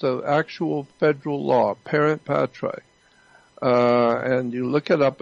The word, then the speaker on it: parens patriae: I don't know exactly how to spell it, but it's pronounced Parent Patriae. It's an actual federal law, Parent Patriae.